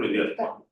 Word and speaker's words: Vidyatma: Vidyatma, pronunciation correct, Vidyatma.